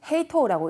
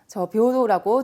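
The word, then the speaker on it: 平等: 일단 평등이라고 하는 거를 우리가 아마 외우실 때 얘는 헤이토라고 읽지 않는다 라고 좀 특이하게 이제 10번은 아닌 걸로 외우셨을 거예요.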